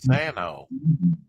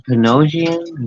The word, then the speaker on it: Panosian: that is Dan Pano did I say his name right he yeah wasn't he with the image back in the day Dan panosian is that all right I'll spell it for you P en o s i i n yes